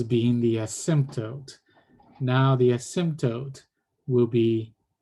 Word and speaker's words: asymptote: the asymptote, now the asymptote will be right here. And then the line will go like that. And this one will be the new asymptote. There's the silent P there.